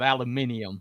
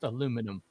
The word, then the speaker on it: aluminum: So, they're the ones that came up with aluminium, but it's actually pronounced aluminum.